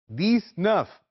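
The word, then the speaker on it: dix-neuf: और 10 दोनों को मिलाकर कहा जाता है दस नफ डी आई एक्स एन ई यू एफ 20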